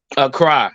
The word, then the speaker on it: Accra: Accra. That's how you say it.